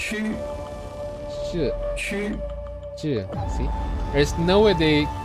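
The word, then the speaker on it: Qu: Is it Q or Chu? It's rare for a Chinese to say the Q though. Let's listen to this. Chu.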